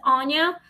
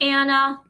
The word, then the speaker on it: Anya: type ghosting with Anya, my first name is Anya, and it's in four letters, A N Y A. So, that's how you pronounce my name, Anya, instead of Anya.